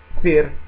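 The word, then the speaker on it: फिर: suono di F italiana, è anche abbastanza spontaneo, trasformare P in F. Vengono fusi questi due suoni di P e l'uscita dell'aria, e questa lettera si trasforma in F, e quindi loro pronunciano Fir milenge, fir milenge, fir milenge.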